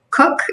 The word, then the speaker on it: Koch: an e-l and then my last name is tricky even though it's pronounced cook it's k-o-c-h so what what would